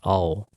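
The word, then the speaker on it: あお: letters this one is a and o together they pronounced as all which means blue on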